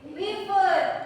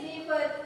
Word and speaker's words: live: Live, dibacanya live, ya, bukan liver, not liver, but live.